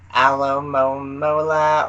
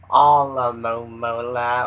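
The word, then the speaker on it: Alomomola: never came to be do you say Alamo mola or all the momulla or something else Alamo mola so Big Al and not all right but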